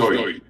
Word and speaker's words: Jui: Joy, Joy, joy. Joy. Yeah. So for an English person, I guess it's Joy is the sound, kind of the closest sound, but it's spelled Jui.